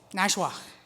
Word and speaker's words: Nashwauk: northern Minnesota, and I'm going to try to pronounce the name of the town. Nashwauk? Nashwauk.